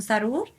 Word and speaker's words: Zarur: mi página como sarur eh se escribe con d n e al final mi nombre sarur Z rur en instagram como hoy